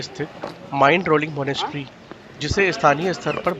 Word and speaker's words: Mindrolling: इतिहास और उत्पत्ति तिब्बत से जुड़ाव माइंड रोलिंग तिब्बती उच्चारण में मिन रोलिंग का अर्थ होता है